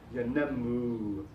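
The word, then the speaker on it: ينمو: rhythm in the pronunciation, yanammu. Although the accent falls on the second syllable, the third syllable is longer in duration. So it's yanammu.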